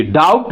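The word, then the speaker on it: doubt: date पढ़ते हैं या डी य यू बीटी डाउट बोलते हैं यह डाउट होता है बी क्या होगा यहां साइलेंट होता है इस तरह से यह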